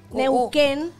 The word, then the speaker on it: Neuquén: Sí, pero la segunda U es como... No se pronuncia. Con, no se pronuncia, suena con la Q. Neuquén, la U no suena.